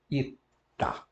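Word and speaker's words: ήτα: Depois temos o E fechado. I, não é? Que em grego se chama ita.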